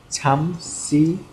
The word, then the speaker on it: 잠시만요: Pronounce it correctly. 잠시만요.